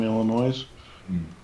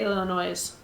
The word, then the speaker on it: Illinois: Illinois Illinois Illinois Illinois I've heard it pronounced both words oddly I don't think I've ever heard anybody say illin nois I've only ever heard it with the uh s being silent and that's from people